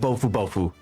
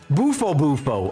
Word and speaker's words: Bufo Bufo: of 5 fights left with Bofu Bofu. Or, wait, did I get the name wrong? Bufo Bufo. Oh my goodness. Yeah, Bufo Bufo.